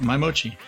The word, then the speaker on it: My/Mochi: that am i saying it right yeah yep my mochi you got it by the way ever since